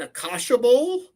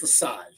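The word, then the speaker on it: açaí: I had I got what I called an aash but apparently it's pronounced aai aai yeah it's not aasha they they looked to be weird when I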